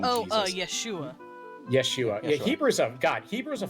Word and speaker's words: Yeshua: I can't remember how you pronounce his name. I just call him Jesus. Yeshua.